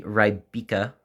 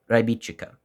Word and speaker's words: Rybička: is a traditional Checkmate knife and while it is spelled to us American or Canadian Western viewers it would be the rybika knife but I actually consulted the proper translation